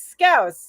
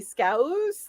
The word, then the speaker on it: Scouse: Scouse, like ow.